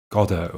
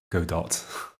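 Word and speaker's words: Godot: like an elephant-ish ah godo i guess is pronounced right i always in my head i go go dot because cardo oh that was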